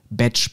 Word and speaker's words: Bach: dem Schreiben sie dann dass seine Familie hier den Namen eigentlich big ausgesprochen hätte wird immer komplizierter super jetzt haben wir noch mehr Aussprache Möglichkeiten also B Bach Gottes will aber jetzt kommt die große Auflösung während seiner Studienzeit haben seine Studienkollegen seinen Namen falsch ausgesprochen die haben ihn nämlich nicht beage genannt sondern BCH so und dabei ist er dann geblieben und war dann Zeit Lebens in der Medizin als Edward BCH bekannt bedeutet also wenn wir